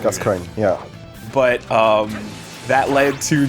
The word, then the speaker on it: Gascoigne: And so the assumption based on French pronunciation ends up being coin, where like because OING, right? Or either that, or if you want to go Parisian, then you go cogne, Gascoigne. Gascoigne, yeah.